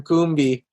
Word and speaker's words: Combe: like and now now finding out years later that i supposed to be calling you cam coombie makes as a